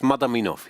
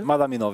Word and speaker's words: Madaminov: I always mix up, get the name wrong, it's Madaminov, he's called, yeah? Madaminov, yes.